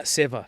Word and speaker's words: Seva: Am I pronouncing it correctly? Yeah, Seva.